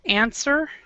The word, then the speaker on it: answer: now remember this word answer answer answer does even though there's an the a w in the spelling answer we actually do not pronounce the W right here so it's answer answer